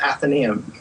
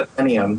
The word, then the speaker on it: Athenaeum: And then I wanted to learn how to pronounce Athenaeum. That's not Athenaeum, like I said in my first meeting.